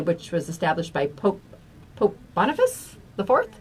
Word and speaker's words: Boniface: And All Martyrs' Day, which was established by Pope Boniface IV. Is that how you say that, Anita? Boniface. Yes.